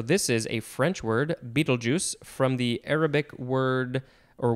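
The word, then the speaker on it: Betelgeuse: capital b-e-t-e-l-g-e-u-s-e and uh the pronunciation guide does say it is pronounced beetlejuice or beetlejuice or beetlejuice noun from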